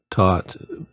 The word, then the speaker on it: Thoth: thoth which i know it's probably pronounced taught with the hard t instead of the th but i think thoth sounds better to speak to the